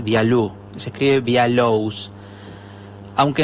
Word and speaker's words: Bialous: hablar de rizar viaú lo voy a decir así como si fuera francés vialú se escribe vía lowes